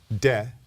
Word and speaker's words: Te: Yes, and it's T-A-O, pronounced Tao, T-E, de, and then C-H-I-N-G.